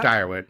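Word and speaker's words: Dyrwood: Is that how you pronounce that? Yeah, Direwood.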